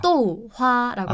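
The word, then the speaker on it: 豆花: 그 뭐 또화 이렇게 해야 되나요? 어떻게 네, 발음해야 맞아요. 되나요? 이게 사성일성이어서 또화라고 합니다.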